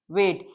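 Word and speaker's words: weighed: Both से the coal was वेड. GH की sound silent है तो हम अवॉइड करेंगे. वेड.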